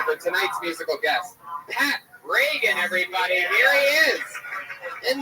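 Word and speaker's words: Regan: r e g n not like Ronald Reagan it's announced like Ronald Reagan Pat Reagan but there's no a in that follow him on Twitter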